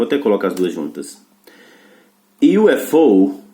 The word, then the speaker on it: UFO: Na sigla o U tem som de Y, mas na palavra não. A mesma palavra com dois artigos, A e N. Incrível, né? E UFO eu uso A, Unidentified Flying Object eu uso N, porque tem som de vogal, e o outro tem som de Y, que é consoante.